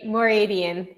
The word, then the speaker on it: Mooradian: it it's a it's a hard one to pronounce it's more radiant i would have messed that up i would